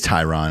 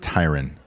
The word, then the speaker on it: Tyron: Woodley why why Craig it is Tyron I was correct it's not Tyran Tyrion what you actually pronounced